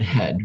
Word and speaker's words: head: Now that E and that A, what sound do they make? Well, kind of an E sound. That's called the short E sound.